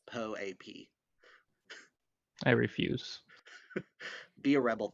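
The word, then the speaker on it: POAP: i have been corrected in dms it is poep it is not pope i apologize to patricio and the other po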